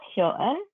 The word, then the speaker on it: Hyo-un: So it's Yo, okay, with an H in front of it, Yo. And yep, if you think about the French number one, Un, Un de toi, Un, that's my second syllable, Hyo-un.